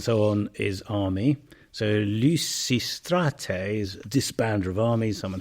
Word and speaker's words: Lysistrata: would say it so in ancient Greek you have What's called the pitch hacks and the voice goes up in pitch in this particular case on the penala syllable so Lucy Strate your voice goes up on the a umate but this then becomes a dynamic accent in modern Greek listata so you hear people saying lysistrata you hear people saying